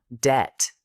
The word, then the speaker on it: debt: Silent B words. Comb. Tomb. Debt.